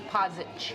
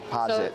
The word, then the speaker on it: Podzik: Yep, Podzik. Podzik. So last name you were pretty close on it.